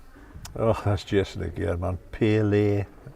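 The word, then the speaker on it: Pillay: Pele, phonetically P-I-L-L-A-Y. Pele.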